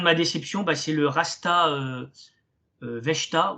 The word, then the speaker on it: Vechta: Et en ce qui concerne ma déception, c'est le Rasta Vechta ou Verta, je pense que ça se prononce Verta en allemand, qui est un club qui ne cesse de stagner.